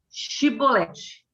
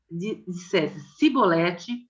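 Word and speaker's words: Chibolete: Se respondesse que não, diziam: então diga Shibolete. Se ele dissesse Sibolete, sem conseguir pronunciar corretamente a palavra, prendiam-no e matavam-no no lugar da passagem do Jordão.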